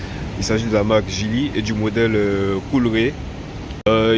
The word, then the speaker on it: Geely: est sur un Gili ça se prononce Gili là tu pourras pas